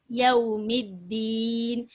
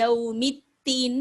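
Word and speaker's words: يوم الدين: யௌமித்தீன், இந்த இடத்துல தால இப்படிதான் நம்ம உச்சரிக்கணும். யௌமித்தீன் இந்த இடத்துல தா போட்டுற கூடாது.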